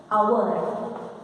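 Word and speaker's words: hour: do pronounce it as our. H is silent there.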